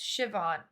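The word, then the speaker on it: Siobhan: Sauban is pronounced Shivon.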